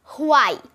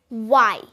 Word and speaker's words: why: আমরা এখন থেকে সঠিক উচ্চারণ করার ট্রাই করব, এবং তাহলে আমরা যদি সঠিক উচ্চারণ করতে চাই তাহলে আমরা বলবো ওয়াই, মানে উয়ের মতো একটা সাউন্ড করব, ওয়াই।